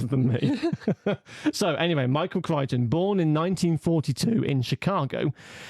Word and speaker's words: Crichton: So, Michael Crichton, I found out you pronounced it Crichton, not Crichton, as I thought it was, but my dad corrected me.